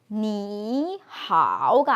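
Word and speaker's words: 你好: 삼성이 나란히 나오면은 앞에 삼성을 이성으로 올리고 그 다음 삼성을 하자. 대신에 표기는 그냥 이렇게 하지만 우리가 익혀가지고 이렇게 발음을 하자라고 약속을 해서 니하오가 아니라 앞에 거 이성으로 니하오 이렇게 하기로 약속이 생겼어요.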